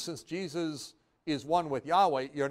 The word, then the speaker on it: Yahweh: have said it but no we say it Yahweh now if you say Jesus since Jesus is one with Yahweh you're not going far